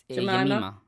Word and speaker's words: Jemima: Jemima? Yep, Yemima. Jemima. Yeah, J is a yeah sound, and I is.